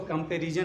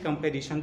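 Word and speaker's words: comparison: और दूसरा शब्द है कंपैरिजन, SON से क्या होता है? सन होता है, तो इसको कंपैरिजन नहीं कंपैरिजन पढ़ेंगे।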